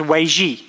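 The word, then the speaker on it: 危机: It's pronounced Wei Ji.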